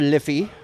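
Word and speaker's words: Liffey: walk and they go along the the river liy that's how you pronounce it and Mahoney goes chasing after a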